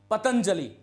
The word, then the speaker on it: पतंजलि: कर सकते हो पतंजलि कुछ लोग इसको पंत जली बोल देते हैं पंतजलि यह गलत होता है ध्यान रखना पंतजलि पंतजलि नहीं होगा यह पतंजलि होगा यह आपको ध्यान रखना